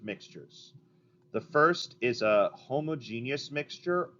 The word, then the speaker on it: homogeneous: The first is a homogeneous mixture. You could also say homogeneous. That is another acceptable pronunciation.